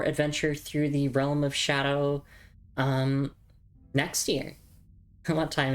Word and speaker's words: Scadu: Uh and of course that's the shadow tree up there, not the scadu tree. It's it's pronounced shadow.